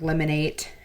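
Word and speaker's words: Lemon8: lemon with like the fruit and then the number 8, so lemonade.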